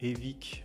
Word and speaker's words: Evic: site nouvellement créé de Evic. Je vais le prononcer en français, Evic Europe, puisqu'il faut savoir qu'avant c'était un site spécifiquement destiné au marché, on va dire nord-américain.